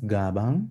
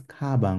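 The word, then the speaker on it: 가방: I don't pronounce it as Gabang. I'm pronouncing it as Kabang with a K.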